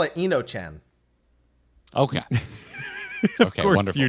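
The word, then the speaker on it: Enochian: I don't know how to pronounce that. We call it Enochan.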